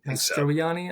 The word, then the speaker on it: Mastroianni: Is that how you pronounce that? Mastroianni, I think.